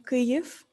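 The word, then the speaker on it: Kyiv: a quick example of how kev it's the name of ukrainian capital pronounced and written differently in ukrainian and russian from korev in ukrainian and kiev in russian ukraine about today didn't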